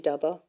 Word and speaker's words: Dhaba: So you mentioned dy daba daba or daba now how it should be pronounced. It should be daba.